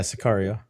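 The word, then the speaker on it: Sicario: This was Scario. Am I saying it right? Sakario, something like that. Yeah, Sakario. Yeah, the second one.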